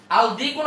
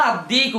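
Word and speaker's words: الديك: আমি দিকুন দিকুন এখন আমার বলেন আলদিকুন আদ্দিকু কোনটা সুন্দর আলদিকুন আদ্দিকু ভালো করে খেয়াল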